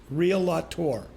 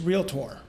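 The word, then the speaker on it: realtor: from our agents who pronounced the word real tore as three syllables real lot or it's real tore and I just want to share that if you had if you go to your doctor and he says to you I'm a docket or would that give you confidence in him in his profession I encourage you to pronounce real tore as real tore not as three syllables because it may diminish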